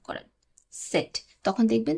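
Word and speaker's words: Z: বা কিছুটা টাচ আসে সেট সেট সেট এখানে যেমন আমরা আমাদের মুখ খুলে উচ্চারণ করছি সেট আর এখানে আমরা দুই পাটির দাঁত লাগিয়ে উচ্চারণ করব সেট সেট ঠিক আছে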